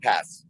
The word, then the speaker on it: Paz: Is it pronounced Paz? Yeah, Kyle Pass. Pass.